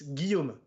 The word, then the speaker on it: Guillaume: so if i'm reading that i would say gillem yeah that's exactly okay that's nearly because it's william in english so but it's guillaume yeah exactly good that's totally if i don't